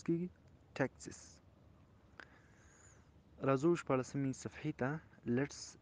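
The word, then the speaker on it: Texas: کاوباو بوټس فرام ډالاس ټیکساس، ټیکساس څنګه تلفظ کیږي؟ ټیکساس.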